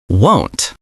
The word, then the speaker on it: won't: Won't. Wo N apostrophe t won't. Be careful with the pronunciation. It sounds like phone or home.